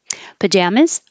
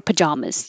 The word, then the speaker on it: pajamas: who's who's that's it pajamas or pajamas you have options you can say ah pajamas with an ah or pajam pajamas or you can just make